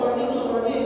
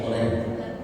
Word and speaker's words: Orange: Wah, usah Orangi, boy. Nah Orangi itu orang. Orangi itu pasukan Belanda, basket dulu. Kacau pokoknya. Pakai NG dan NY, Ustaz Orangi, bacanya Ustaz Oren.